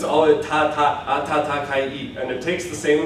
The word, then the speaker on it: 暖かい: So I'm not going to say, English people often when they're pronouncing it, they're going to say, atsukai,じゃないんです。It's like, it's not atsukai, it's ta-ta. This ta is the same ta in every single position in Japanese.